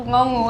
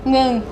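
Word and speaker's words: เงิน: Like it's not ngongu, it's like ngung.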